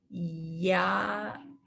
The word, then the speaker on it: ya'ats: And an ayin is a silent letter like the aleph. So all you hear is the vowel. So let's try it again. Ya'ats.